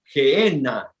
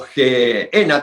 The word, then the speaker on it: Gehenna: Puedo hacerte mención, por ejemplo, la palabra Gehenna, o Gehenna también se pronuncia, término que denota un lugar de castigo.